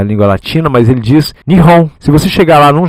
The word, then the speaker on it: Nihon: ele lê esses caracteres, ele diz nihon, né? Ni ele não diz Japão, como nós dizemos aqui na língua latino, mas ele diz na língua latina, mas ele diz nihon.